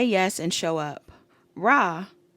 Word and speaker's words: Ra: Rah, pronounced Rah or Rey.